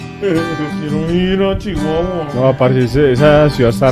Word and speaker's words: Chihuahua: Y le estoy haciendo así de Chihuahua porque la gente aquí habla así, así pronuncia la Chihuahua. La, la CH. Se dice leche, muchacho, Chihuahua.